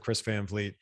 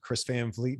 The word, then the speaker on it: Van Vliet: it's just my name chris van fleet v-a-n-v-l-i-e-t v-l-i-e-t you guys yes i was wondering how you pronounce it i know it looks it looks like it should be pronounced differently it's really cool name